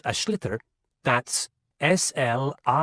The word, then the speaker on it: sliotar: And basically, you have to get this ball, called a sliotar, that's S-L-I-O-T-A-R, so it's not spelt the way it's pronounced.